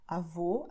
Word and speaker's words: avô: The meaning is different and the way of pronouncing is also different, because avó, I'm opening my mouth. Avô, I am closing it.